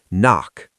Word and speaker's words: NOC: Knock. Pronounced knock.